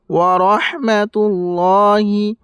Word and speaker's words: ورحمة الله: নাবিয়্যু আইয়ুহান নাবিয়্যু আইয়ুহান নাবিয়্যু ওয়া রাহমাতুল্লাহি ওয়ারহমাতুল্লাহি ওয়ারহমাতুল্লাহি তুল্ল ল এই জায়গায় একালি পরিমাণ টান দিবেন, আর এই জায়গায় যে হা আছে এই হাটাকে বের করবেন।